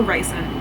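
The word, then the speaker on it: Rhysand: start to stand reand I hate saying reand I prefer Rand but she says it's reand like at the end of the B where she says how to pronounce them whatever cuz like Farah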